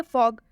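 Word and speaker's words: fog: हैं next example देखिए फॉग फॉग में भी एफ और जी दोनों कॉन्सोनेंट है और इनके बीच ओ आया है और जब भी दो कंसोनेंट के बीच आएगा तो इसका उच्चारण औ से होगा यानी कि जब फ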